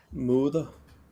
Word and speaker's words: moder: Moder. Moder. Moder. Moder. Med D. Moder. It's like mother, but with a O.